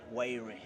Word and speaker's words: Wyre: Ladies and gentlemen, I have Wyre. Hey man, did I say it right? Yeah, exactly. Someone was saying my pronunciation is not okay.